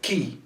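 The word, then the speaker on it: quay: that's hedonist now here how do we spell this so that's key key so it's spelled as the key key key is the platform um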